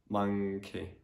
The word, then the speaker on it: monkey: So you need to use the sound as well. So monkey, monkey.